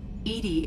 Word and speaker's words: EDI: que você está chamada Edie Edie é a pronúncia fonética de EDI que é um acrônimo